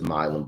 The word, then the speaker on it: Milum: I knew it was Milum, but I got the name wrong in real time when I announced the draft pick last week.